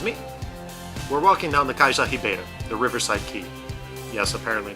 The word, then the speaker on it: Cais da Ribeira: 1887 excuse me we're walking down the Kaiser Sahib Eider the Riverside key yes apparently that is how you pronounce that this was portals main harbor area